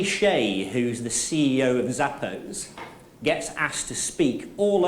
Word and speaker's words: Zappos: Anybody heard of Zappos or Zappos? Yeah, shoes. Yeah. Zappos, I pronounce it Zappos, are a very successful American online shoe retailer based in Las Vegas.